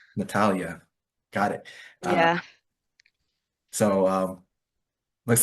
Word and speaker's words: Natália: So I think it's Nathalia or Natalia. I'm not really sure which pronunciation, but É Natália. Natalia.